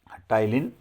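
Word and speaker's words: ptyalin: और सलाइवा में टाइलिन नामक एंजाइम होता है। आपको ये भी याद रखना है। और भाई स्पेलिंग भी पूछी जाती है, पी साइलेंट है इसमें।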